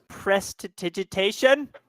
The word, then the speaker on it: Prestidigitation: Then I'm gonna cast Prestidigitation. Mm-hmm. That's how you pronounce it.